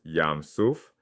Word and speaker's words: Yam Suph: The Hebrew text says "Yam Suph"—pronounced yahm soof.